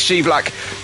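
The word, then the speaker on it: Scheivlak: to nothing this is shelak don't worry what you heard in F1 Esports it is pronounced shelac then we go into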